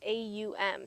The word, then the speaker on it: Aum: And so I like to start practice with 3 ohms, and it's pronounced A-U-M, so it's an Aum, and we'll drag it out on the exhale.